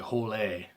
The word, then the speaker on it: Hole: the name is pronounced Harry Hole now it's more like holy or holy as is